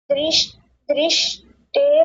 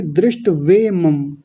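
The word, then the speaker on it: दृष्ट्वेमम्: दृष्टे ममम। नहीं, दृष्टे नहीं, दृष्ट वे मम। ये ऐसे लिखा जाएगा, दृष्ट भी आधा, वे वा के ऊपर एक ही मात्रा है, म के ऊपर अनुस्वार है, ऐसे।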